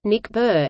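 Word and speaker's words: NICBR: Confederation for biological research ni CBR pronounced mcbird is a biotechnology and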